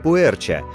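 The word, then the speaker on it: 普洱: в себя процессы ферментации китайское название произносится как пуэр что буквально значит чай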